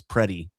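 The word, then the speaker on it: Pretti: It's preddy, by the way, not pretty.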